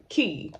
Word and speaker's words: Quay: I like Key. If you all don't have shades from them, maybe try them out. It's spelled Quay, but it's pronounced Key, in case you guys didn't know that.